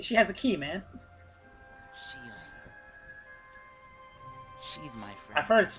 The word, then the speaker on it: Xion: I started inviting Xion up here while you were gone.